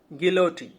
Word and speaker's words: guillotine: এর সঠিক বানানটা হচ্ছে GUILLOTINE, গিলোটিন, শির কর্তক বা কর্তন যন্ত্র।